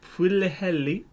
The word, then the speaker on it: Pwllheli: Jonathan, your turn once again to butcher the name. It is in Pwllheli, Gwynedd in Wales, which, if you don't know